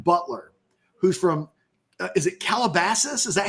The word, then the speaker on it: Calabasas: Speaking of guys we were trying to get on the phone yesterday, there's a kid named Aaron Butler who's from, is it Calabasas?